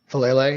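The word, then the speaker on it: Faalele: How do you say his last name? Falele? Falele, yeah.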